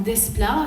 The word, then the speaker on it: Desplat: retenez bien ce nom Alexandre Desplat il faut prononcer le S c'est le futur Michel